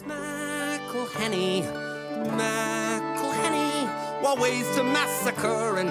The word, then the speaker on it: McElhenney: It's McElhenney. First it's Mackle like a tackle when we take him to the ground.